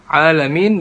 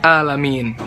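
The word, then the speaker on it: العالمين: itu di Alfatihah alhamdulillahirobbilalamin alamin dibacanya enggak jelas Ainun jadi Hamzah malah jadi alamiin yang tadinya artinya segala puji bagi Allah Tuhan semesta alam gara-gara kita baca Al Amin artinya malah segala puji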